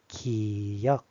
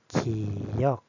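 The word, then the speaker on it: 기역: This one we say giyeok. giyeok Which is g sound, ga.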